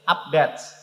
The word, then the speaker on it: update: tool update up-to-date iya harus update salah ABD bukan begitu tulisannya itu Wu PDKT yang artinya udet yang cara membacanya itu update yang artinya Apa artinya